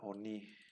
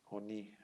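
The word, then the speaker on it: עֳנִי: En este caso siempre el Kametz se va a pronunciar como O. Acuérdense que la A ya tenemos el Pataj, Sheba, el Hatef Pataj se pronuncia como A y el Hatef Kametz siempre se va a pronunciar como O. El Hatef Kametz se va a pronunciar como una O brevísima, ¿sí?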